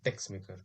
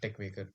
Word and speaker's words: Texmaker: uh in previous videos i called latex and text maker but it is actually pronounced as a lattice and tech maker because in in latex this is not x